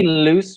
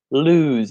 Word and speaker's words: lose: So we wouldn't say loose my reservation, lose my reservation.